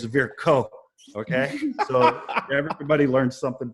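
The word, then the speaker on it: Virchow: to look up because I've never known how to say this word. Verose triad. It's spelled V I R C H O W. We were taught it in school. We've all been calling it Vers. Um but go Google Scholar. How do you say Versa in German? because it's a German physiologist and it's ver co.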